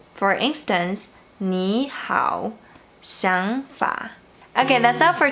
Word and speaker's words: 你好: But when the third tone is followed by another third tone, you should pronounce the first one like the second tone. For instance, 你好, 想法.